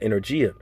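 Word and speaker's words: ἐνέργεια: Now, when you go into that word working in the Greek, that word is pronounced energia.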